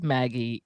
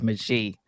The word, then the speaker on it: Magie: So, Lizzie, Maggie, I actually went and looked up how do you pronounce Magie, because I didn't want to pronounce it wrong, and it says Maggie, but I don't know if it's French, and the French version of it is Magie.